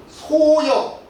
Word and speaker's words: 소열: 매울 열자인데 열이라고 읽었습니다. 소열, 한나라 소열 황제입니다.